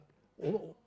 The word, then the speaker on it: 輋: 佘 in Simplified Chinese 輋 is pronounced as 'che' in Cantonese, like in Po Lo